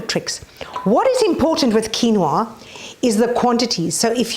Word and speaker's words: quinoa: look at my Channel about protein Alternatives now quinoa which is difficult to pronounce because it is a QR but it's pronounced quinoa is a seed that has 28% protein it's